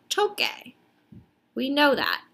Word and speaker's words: toque: want it to say toque. We know that. But if we were to spell it like this, that says tose. In order to preserve the sound, we add a Q.